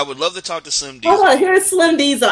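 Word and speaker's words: Slim DZL: Now you have an artist that you love to talk about by the name of Slim Diesel, and it's spelled DZL.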